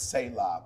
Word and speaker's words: Selah: And so sometimes you got to have a Selah moment, before you crash out. We ain't crashing out in 2026. Yeah, I pronounce it as Selah, but some people say Sela, you know.